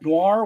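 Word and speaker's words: Gnoir: the stories we have Noir with the silent G okay by Angela Boyle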